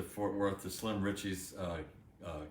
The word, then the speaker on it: Fort Worth: to fourth wort um this guy's best friend can't pronounce fort worth he's just fourth world we drove to fort worth to slim richie's uh